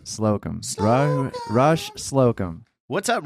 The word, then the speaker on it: Slocum: Slocum. Slocum.